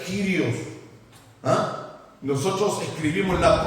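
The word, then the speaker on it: κύριος: Ahí está escrito en el verdadero griego, miren que dice kuplos, parece que era kuplos, pero se pronuncia Kyrios.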